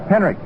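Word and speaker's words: Henrich: off at third Tommy Henrik h n r i c pronounced as though there was a k on it Henrik in right field and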